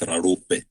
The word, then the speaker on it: Raupe: The proper pronunciation of my surname is Raupe.